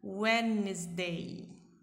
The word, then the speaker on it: Wednesday: Quando tiver um D mudo no meio de uma palavra em inglês, vocês não pronunciam esse D. Vocês prendem a ponta da língua nos dentes inferiores, os dentes de baixo da nossa boca, e aí não pronuncia o som do D. Wednesday. Vai ficar assim a pronúncia.